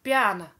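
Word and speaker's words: piano: динамика - это тихо обозначается буковка п и читается как пиана следующая динамика в меру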